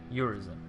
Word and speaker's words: Urizen: It's phonetically your reason, Urizen, which ties neatly into V being separate from Urizen.